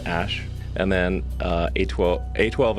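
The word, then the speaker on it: Æ: the the name significance the AE is like pronounced Ash and then uh a12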